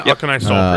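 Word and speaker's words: Auchenai Soulpriest: I never know how to pronounce this. Aknai Soul Priest. Yeah, Aknai Soul Priest.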